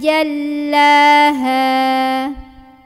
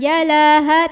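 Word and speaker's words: جَلَّاهَا: Idza jallaha. Di sini ja, ja, enggak boleh ada angin. Lam tekan, ya. Jadi jangan jalaha tapi jal, tekan. Jal, jallaha, jallaha. Nah, lagi-lagi di ha, hanya dua harokat, jangan tertekan.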